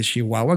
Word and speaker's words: Chihuahua: yo invitado por una agencia de Chihuahua de Chihuahua como correctamente se pronuncia folklore Exacto Nacho de folklore que la